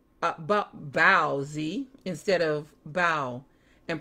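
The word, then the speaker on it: baozi: Growing up in a Mandarin speaking family, I always said bao-zi instead of bow and pronounced the word differently, but the Americanized pronunciation is usually bow.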